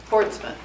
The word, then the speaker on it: Portsmouth: Portsmouth. It's like Norfolk. You just say that.